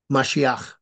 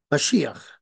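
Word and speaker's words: משיח: i a c h mashia or actually it's pronounced mashia mashia where and but Yeshua is pronounced Yeshua the emphasis on the second syllable but mashia is on the first so why am I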